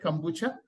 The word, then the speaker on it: kombucha: credit, and including the launch of the first kombucha, am I saying it right? Kombucha brewery in Kolkata.